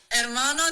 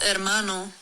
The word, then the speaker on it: hermano: I don't want to go against Maddie, but hermano does have a H at the start. But all the words with H's at the start of them, the H is silent. So it's, ¿cómo estás, hermano? You go straight to the vowel.